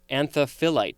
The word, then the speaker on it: anthophyllite: flowers as in anthophilus insects next we have anthophyllite could also be pronounced anthophyllite t a-n-t-h-o-p-h-y-l-l-i-t-e i hesitated because i wasn't sure